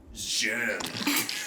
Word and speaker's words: Zjerm: No, that's not how it's pronounced. Shkodra, Elektronike. Elektronike. Zjerm.